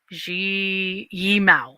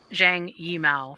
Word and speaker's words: Zhang Yimou: And I'm so sorry for Zhang Yimou for mispronouncing your name.